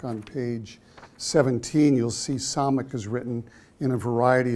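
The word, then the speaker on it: ס: that letter right there that round letter is Sonic and it has an S sound it's not Shin or San it's always s sound like that as in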